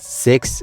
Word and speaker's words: Sicks: Now this stable is officially called the Wyatt Sicks, and Six spelled like SICK, but there's 5 members as of right now.